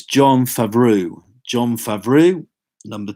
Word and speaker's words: Jon Favreau: Got to pronounce his name right. It's Jon Favreau.